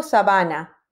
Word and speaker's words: sabana: palabras son más rápidas si yo digo sabana y digo sábana son dos cosas diferentes la sabana en África y una sábana en una cama sábana es esdrújula y tiene una sílaba menos cuando las cuento porque es más rápida es más acelerada Entonces cuando es aguda es una más cuando es esdrújula es una menos y cuando el verso